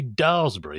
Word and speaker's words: Daresbury: But just to balance the scales up, Richard, I understand you also mispronounced, which spelt Daresbury, but which should be Daresbury.